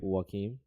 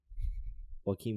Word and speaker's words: Joaquin: think he's a great light how do you pronounce his first name again Joaquin Joaquin Phoenix no holy what team